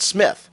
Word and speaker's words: Smythe: It's pronounced Smith. I've always taken as a rule of thumb to default to Smith, especially if they're a Brit. And I think it's pretty exclusively a British spelling.